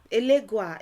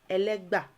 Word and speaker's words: Ẹlẹ́gbà: um first of all elega is simply the mispronunciation of elegba so um amongst the